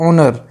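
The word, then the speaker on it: honour: तो यहां पे जो है एज साइलेंट रहता है। तो इसको हम लोग क्या पढ़ते हैं? तो इसको हम लोग पढ़ते हैं ऑनर। तो ओनर की जो साउंड है जो प्रोनंसिएशन है ये है वोवेल की।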